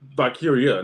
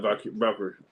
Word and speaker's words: Valkyria: Oh, Valkyria, not Valkyrie. I'm tripping. It's with an A, not E.